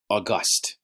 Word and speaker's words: august: August. Kind of like August, but august. It's where you put the emphasis and which syllable you put it on.